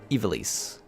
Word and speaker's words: Ivalice: Ivalice is pronounced. You knew I was gonna have problems. Ivalice. Thank you.